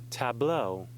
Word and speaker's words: tableau: Tableau, a group of models or motionless figures.